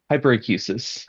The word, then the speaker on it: hyperacusis: And you have It's called hyperacusis, if I'm saying it right. Hyperacusis.